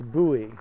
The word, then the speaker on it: buoy: It just sounds like boy, but you don't pronounce it boy, it's buoy.